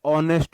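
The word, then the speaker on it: honest: एच ओ में जब भी एच के बाद ओ आए तो एच साइलेंट होता है। ऑनेस्ट हुआ, है ना।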